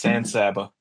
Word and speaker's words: San Saba: Yeah, it's like San Antonio, except it's San Saba.